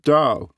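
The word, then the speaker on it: 盜: The Chinese word for gangster is pronounced Dao, just like the way.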